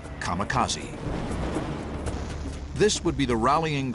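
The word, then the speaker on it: 神風: called it divine wind which in Japanese is pronounced kamakazi this would be the rallying Cry of Japanese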